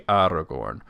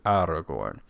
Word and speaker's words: Aragorn: trilled in all positions I try to do my best at this though I find it difficult in like AR I say Aragorn a lot Aragorn it's actually Aragorn uh and that his name is indeed cerin so it should be Aragorn uh but I I